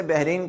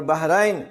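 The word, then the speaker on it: बहरैन: अगला लज देखि बहरीन अक्सर लोग इसे बहरीन कहते हैं कि जी मैं बहरीन गया हुआ था यह बहरीन नहीं है यह है बहन जैसे सूर अ रहमान में है मराज जल बहर यल तक यान बहर बहर एक समुंदर और बहराइन दो समुंदर अगला लफ देखें मुन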